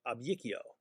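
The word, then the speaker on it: abicio: They are spelled with only one I, but they have a hidden Y sound in them. Because ab yakio gives us ab yikio.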